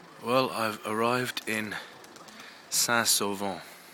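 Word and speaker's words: Saint-Sauvant: well I've arrived in sasovo I believe that's how you pronounce it it's definitely not solving you anyways that's over and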